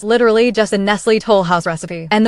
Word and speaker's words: Toll House: literally just a Nestle Toll House recipe. And the way she pronounces it, Nestle Toulouse, absolute perfection.